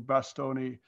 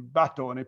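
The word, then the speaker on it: Batoni: Edward Cheney, who used to be in Florence a lot, an old friend of mine, has corrected me for mispronouncing Bastoni, but it should have been Battoni, Pompeo Battoni at the beginning.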